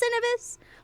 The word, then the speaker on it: Cinevis: I think it's Cinevis, like synergy, like that sort of thing.